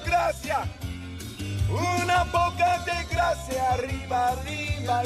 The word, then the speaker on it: arriba: was able to pronounce arriba. So the double R or rolled R, arriba, and that's very good because that sound, that particular sound, is always very hard for non-native Spanish speakers, especially English speakers, because